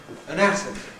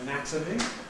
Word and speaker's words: anatomy: So we can compare the adjective anatomic with the noun anatomy.